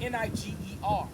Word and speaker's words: Niger: Now it's spelled N-I-G-E-R. Say Niger. They say Niger, but I want to go to something called a concordance.